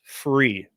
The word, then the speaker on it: FURE: Yes it is spelled furcab. That's how that's their website. But it is free.